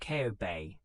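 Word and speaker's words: Kobe: The great Hansen earthquake struck the city of Coobe, pronounced Ko Bay, in 1995.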